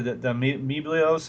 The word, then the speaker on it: amiibo: The Amiibos?